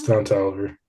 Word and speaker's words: Don Toliver: two it's um temporary with um is it Don Toliver is that how you pronounce it yes down to Oliver love that song I think that's a banger